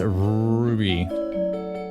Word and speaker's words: Ruby: Stella, you never say my name right. It's Ruby. You gotta say it with a Roo. Like a Roo.